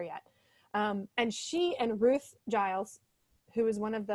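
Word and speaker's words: Geils: G-I-L-E-S? No, G-E-I-L-S, but yeah. I think it is pronounced Giles.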